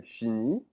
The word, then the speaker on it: finit: Il, elle finit. So notice how they're all pronounced the same way because the T and the S are not pronounced.